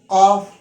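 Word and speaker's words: قاف: It is a heavy letter, therefore we pronounce this letter heavily like qaf, qaf. Let's pronounce each letter twice.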